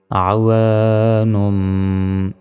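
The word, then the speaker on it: عوان: আইন জবর আ, ওয়াও আলিফ জবর ওয়া, নুন দুই পেশ নুম, আওয়ানুম।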